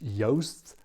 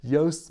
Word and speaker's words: Joost: say I am aware his name is yast yast kind I've been practicing how to say it yast makes the most toast on the coast so I do know